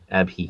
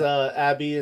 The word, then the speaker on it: Abhi: Not Ab. Abhi. Everyone says Abby, and they also spell it incorrectly, but it's Yeah, fine.